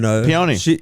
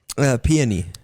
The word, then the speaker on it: peony: I mean, my fiance just Peony. Peony. Shout out. Peony. What's the proper pronunciation? Peony.